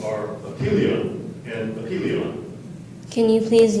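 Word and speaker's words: epyllion: The two pronunciations are apelion and apelion.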